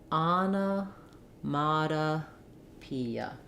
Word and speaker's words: onomatopoeia: tense e vowel and the last letter A says uh go slowly and then speed back up that should help you to say this word fluently and easily sounds like Anna Mata Pia also letter T I've